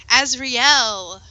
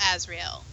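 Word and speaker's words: Azriel: Azrael. I say it like Castiel from Supernatural.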